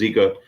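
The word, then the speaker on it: Jika: called a zika rig spell with a J but pronounced zika and um uh Gamakatsu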